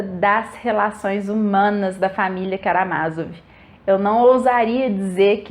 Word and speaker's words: Karamázov: Eu li essa edição aqui da editora de Ouro e é por isso que eu pronuncio Karamazov e não Karamazov, como algumas pessoas, e provavelmente é por